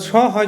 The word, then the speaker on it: সহ্য: অর্থাৎ স হয় যে বলা সহ্য হবে। অর্থাৎ এক্ষেত্রে কী হচ্ছে, হটা জয়ের মতো উচ্চারণ হয়ে যাচ্ছে।